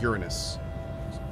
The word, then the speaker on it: Uranus: Uranus, it's pronounced by the way, chat, Uranus.